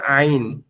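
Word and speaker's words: عين: আছে এটাকে বলে শুরু এই মধ্যখান থেকে উচ্চারণ হবে আইন।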